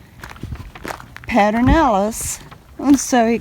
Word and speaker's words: Pedernales: guys, we are here at Pedernales Falls.